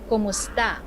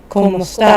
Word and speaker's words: Kumusta: Let's slow it down for pronunciation practice. Try it with me. Kumusta. Kumusta. Kumusta.